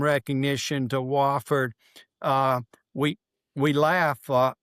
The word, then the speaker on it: Wofford: Uh, we we laugh, uh, people do know how to say Wofford now. Back in my day, when I was in college there, you got outside the area, they couldn't pronounce Wofford. It'd be Wooford or something like that.